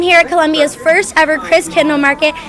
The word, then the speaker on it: Christkindl: She's the owner of Gunter Hans and the heart and soul of this Christkindl Market.